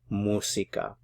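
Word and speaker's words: música: the accent mark musica normally if a word ends in a vowel an N or an S the stress is on the second to the last syllable so you normally would stress this one but because it has the written accent mark you have to stress it on that syllable foreign the doctors hear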